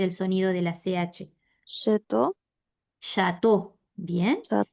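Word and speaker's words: château: Chateau.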